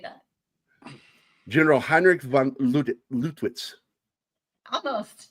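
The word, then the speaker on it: Heinrich von Lüttwitz: General Heinrich von Lutwitz. Almost, not bad. Heinrich von Lutwitz.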